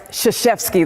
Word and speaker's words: Krzyzewski: No, sorry, it's Krzyzewski.